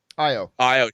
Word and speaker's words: Io: plays uh you know i say ayo but i think that's a mispronunciation of the character's name but io she first of all